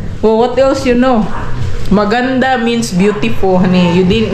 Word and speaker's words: maganda: ready language yeah well what else you know maganda means beautiful honey you didn't say it right magana magana well that's also actually a word in